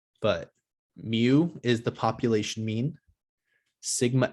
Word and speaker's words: mu: little greek letter called mu looks like an m or a u but it's pronounced mu so this sigma right